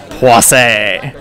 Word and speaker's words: Poissy: There's a way that pronouncing that sounds like it should be pronounced that also sounds dirty, so I'm not going to say that. So we'll say it in French. Poissy.